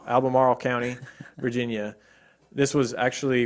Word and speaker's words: Albemarle: property in Almera albamar how do you say Albemarle Oh Albemarle County Virginia this was actually would be determined